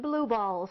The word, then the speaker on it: BLOOB-ALLZ: I'll spell it for you. BLOOB-ALLZ. It's pronounced blue balls.